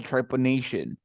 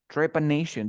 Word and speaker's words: trepanation: This is what we call trepanation. Trepanation, this is very simple. Remember that when you have the letter T and then you have I-O or I-A, we pronounce like sh.